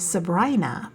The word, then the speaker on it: Sabrina: The canyon narrows, the temperature drops, the trees thicken, and by the time you reach Lake Sabrina, pronounced Sabrina by locals, you're more than 9,000 ft above sea level.